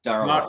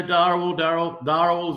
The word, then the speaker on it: Dharawal: Did I pronounce that right? Dharawal. Yeah, mate. You know, Dharawal is what I go by, but I'm happy that you definitely nailed it there, mate.